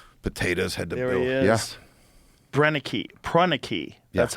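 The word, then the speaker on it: Proenneke: Prreni, that's how you say his name.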